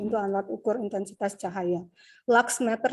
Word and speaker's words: luxmeter: Luxmeter sih kalau cara bacanya. Kalau tulisannya LUX meter.